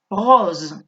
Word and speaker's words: rose: Está entre dos vocales. Hay una única S. Es una S sonora. Rose. Zzz. Vous voyez? Rose.